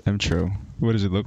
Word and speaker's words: emTr0: You're making this really complicated. It's, you can read it phonetically. M-O. M-M-M... Tro. I'm having trouble. Oh, is it just Tro? Yeah. What does it look like? Oh, sup, Tro? No, it's M-Tro.